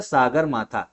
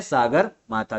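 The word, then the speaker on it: सगरमाथा: ध्यान रखना और नेपाल में बोला जाता है सागर माथा क्या बोला जाता है सागर माथा तो तिब्बत में चोमो लुमा और नेपाल में सागर माथा तो इंपॉर्टेंट है ये चीज इतनी पता होना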